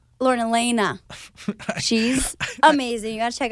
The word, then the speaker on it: Alaina: Lauren Alania like Lauren Alaina she's amazing you gotta check out her music sorry Lauren Elena I looked at your last name and I said it phonetically Oh james van der